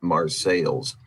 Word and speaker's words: Marseilles: We have what would be called Marseille in France, but it's Marseilles.